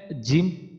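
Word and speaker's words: جيم: তো আমরা আমাদের জিম উচ্চারণের ক্ষেত্রে আমাদের একটা জিনিস খেয়াল রাখতে হবে, যে আমাদের জিমটা যেন বাতাস বের না হয়ে যায়।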